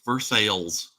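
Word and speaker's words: Versailles: but they call it versales don't they in Kentucky it is pronounced versales it is pronounced like it is spelled veres it's funny you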